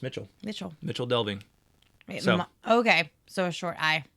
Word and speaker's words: Michel Delving: m i c l in Old English the letter C in these circumstances at least would normally be pronounced as modern cha so in ch so